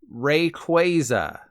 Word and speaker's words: Rayquaza: Like it's kwazy that this is how it's pronounced. Seriously, Rayquaza.